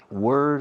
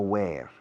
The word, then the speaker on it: were: Were. No where. Where es llevar puesto. Were. Fijaos en la pronunciación. Were. So, una pronunciación oscura, baja.